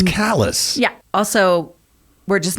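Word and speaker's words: Calais: pronounce things wrong callous the real callus in France is Cala but no not in Maine it's callus yeah also we're just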